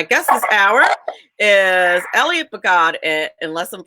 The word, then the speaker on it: Bogod: Is that how you pronounce it, Bogod? Yes, Melanie, Bogod is right.